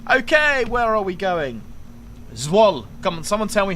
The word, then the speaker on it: Zwolle: Zwolle. Come on, someone tell me how to say it phonetically.